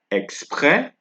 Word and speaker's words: exprès: I know in Spanish, the S is pronounced, but in French, we do not pronounce S's. We do not do that here. We don't pronounce S's in French, right? So we have exprès, exprès, right?